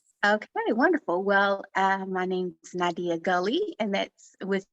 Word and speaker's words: Nadiyah: Wait, say it one more time, pronounce it one more time, because I was saying Nadiyah. Is it? Nadiyah. Okay. Yeah, like Aaliyah, it's Nadiyah.